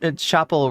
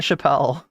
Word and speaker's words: Chappell: They didn't have the not like Dave Chappelle. It's like Chappell or Chappell. I think it's because I'm pronouncing it French. I'm saying Chappell, and you're hearing Chappelle. I do know that it's not Chappelle.